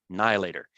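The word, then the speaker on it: Now and Later: I was a child there was a candy called now later and in Mississippi we pronounced it n later and the commercial went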